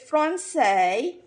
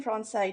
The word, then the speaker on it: Francese: You know, there's some variations, but it's pronounced Francese, I think, if it's Italian, if it's the Italian pronunciation.